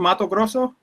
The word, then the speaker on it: Mato Grosso: I was in Mato Grosso. I was all over the country, really. Paraty. What were you doing? Mato Grosso? What is it called? Mato Grosso? Yeah, that's perfect.